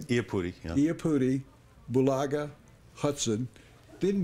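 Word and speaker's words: Iupati: Iapudi.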